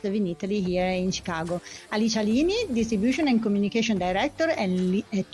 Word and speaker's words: Lini: Lini is our family name.